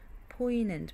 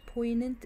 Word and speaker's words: poignant: we watched the poignant G is silent poignant poignant is what affecting emotion